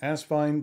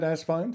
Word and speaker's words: Asvine: is asvine uh as one of the original logos for the brand had an actual Vine Incorporated in it uh for years when